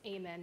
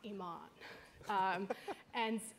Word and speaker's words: Eamonn: And despite his model good looks, it's pronounced Eamonn, not Eamonn.